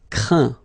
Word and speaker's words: craint: Craindre, craint. Contraindre, contraint. Plaindre, plaint. Okay, and as usual, final T here is not pronounced, so you get craint, contraint, plaint.